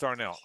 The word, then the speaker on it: Arnel: It's Arnell. Arnell Pineda. Thank you, Tom. Tom Champion, who knows everything about music here. Thank you, Tom. That's why we keep Tom around, because he's got those musical answers. Arnell Pineda.